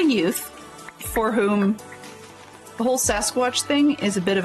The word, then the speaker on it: Sasquatch: So anyways, so they have a family story about the Samsquatch, which it's really just a mispronunciation of Sasquatch.